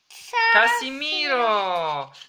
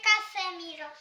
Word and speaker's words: Casemiro: Casimiro! Casimiro! Tak jest. Czyta się Casemiro.